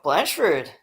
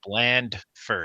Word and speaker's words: Blandford: It's bland first. You got to pronounce the D.